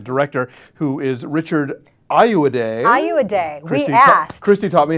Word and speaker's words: Ayoade: Ayoade.